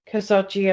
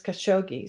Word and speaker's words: Khashoggi: The American pronunciation is Khashoggi, so I should probably just go with that. But Professor Landis taught me how to say it. It's like Khashoggi.